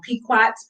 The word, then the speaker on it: Pequot: I might be saying their name wrong. Pequots, Pequ.